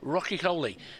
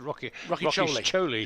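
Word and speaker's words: Rocchiccioli: In my excitement there, I mispronounced his name. I was just going to say, I thought you said it was Rocky Choli. Yeah, Corey Rocky Choli.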